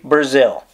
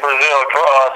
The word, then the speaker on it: Breazeale: pronounce this man's name it is pronounced like the country Brazil yes sir just like Brazil spell completely different but